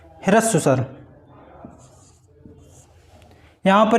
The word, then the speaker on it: ह्रस्व: ह्रस्व, ये यहाँ पर रा नहीं होता है, इसको आप प्रोनाउंस करेंगे, बोलेंगे ह्रस्व स्वर।